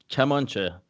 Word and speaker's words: Kamancheh: Did I pronounce that right? Kamancheh? Perfectly, Kamaneh. but yeah. Kamaneh. Kamaneh? Kamancheh. Kamancheh. Yeah. Farsi.